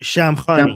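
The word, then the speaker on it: Shamkhani: Shamani. How do you say it like how you guys would say it? Shamhani.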